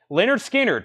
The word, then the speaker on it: Lynyrd Skynyrd: pressing 49.99 on that Leonard Skinner pronounced Lynyrd Skynyrd first MCA press there